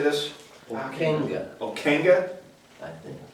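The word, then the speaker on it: Ockenga: Okenga. Okenga? I think. It's Akinga.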